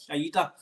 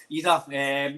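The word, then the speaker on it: Idah: man up front, big Aida. Not Ida. He'll probably come on one day, sorry for saying his name wrong, but Ida.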